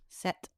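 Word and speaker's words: sept: How do you say how do you say seven in French? Set.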